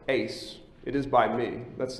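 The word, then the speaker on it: εἰς: Holy Spirit that little three-letter Greek preposition it's pronounced Ace It Is by me that's the southern pronunciation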